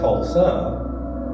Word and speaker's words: Tulsa: Tulsi was a shortened pronunciation of Dalhousie. Dalhousie becomes Tulsi. Tulsi would later be formally recorded as Tulsa when Josiah Perryman became Tulsa's first postmaster in 1878.